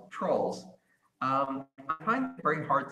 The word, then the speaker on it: Troels: It's Troels, pronounced trolls.